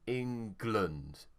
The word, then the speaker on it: England: The stress is on ing, so glund. England. Und.